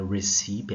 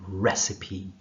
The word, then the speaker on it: recipe: Então, prestem atenção na pronúncia da palavra, né? Não é recipe, é recipe, recipe, ok?